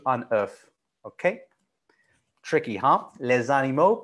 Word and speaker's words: œuf: So we don't pronounce the FS for des œufs, but you do un œuf.